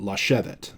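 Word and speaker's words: לָשֶׁבֶת: accent mark, which again, shevet is accented on the shin syllable, the syllable that is right before that, if it's open, Hebrew really wants a long vowel there.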